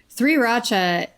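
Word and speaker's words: 3RACHA: The only other thing is, like, this, we talked about this before, but Sriracha or Sriracha, is it Sriracha, right? Sriracha. That's how you say it.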